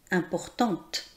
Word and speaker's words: importante: Importante. On prononce le son T car il y a la lettre E qui est la marque du féminin.